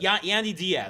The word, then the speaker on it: Yandy Diaz: Yandy Diaz. Yandy Diaz.